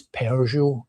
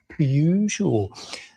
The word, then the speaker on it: Peugeot: It's It's Peugeot." And I'm like, "It's spelled p e u. There's no There's no r in it. Peugeot without an r in it. It's Peugeot."